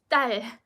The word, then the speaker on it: 딸: And then whereas this tense consonant, you, like I mentioned, you pause slightly before pronouncing it, so it's going to be 딸.